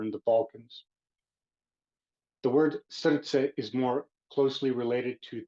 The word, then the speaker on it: srce: The word for the day is pronounced srce.